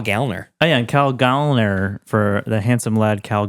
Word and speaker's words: Gallner: He did clarify on Twitter that his name is pronounced Gallner. Really? Yeah. Like gallstones? Like gallstones. He says, someone asked how do you pronounce his last name, and he said Gallner like a lady, a gal like a lady. Interesting. And he said not Gallner, Goll.